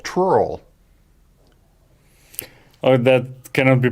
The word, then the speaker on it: trurl: Last tool is called trurl. Oh, that cannot be pronounced even.